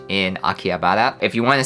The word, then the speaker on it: Akihabara: There is an H in there, Akihabara. When I speak, I guess maybe I don't pronounce the H as intensely as other people, but a lot of Japanese people call Akihabara Akiba.